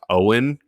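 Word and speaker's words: Eoghan: this kid's first name I think it's supposed to be pronounced Owen Cary um it looks like a sound you make when you e o g h n it sounds like a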